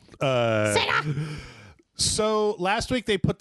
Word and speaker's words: Sega: Also, in this house, we pronounce it Sega. Sega.